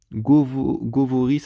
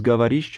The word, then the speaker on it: говоришь: Du coup, quand je vois Govoris, alors que ça se prononce Gavarish, enfin, vous voyez, vaut mieux apprendre l'alphabet cyrillique directement comme ça et pas s'aider de l'alphabet latin, quoi.